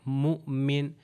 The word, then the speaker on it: مؤمن: حمزہ دیا گیا تو اس کو صحیح طریقے سے پڑھنے کا طریقہ ہے مؤمن. یعنی تھوڑا سا آپ اس کے اوپر ایز اف یعنی جھٹکے ٹائپ، یعنی بہت زیادہ نہیں، تھوڑا سا مؤمن مؤمن.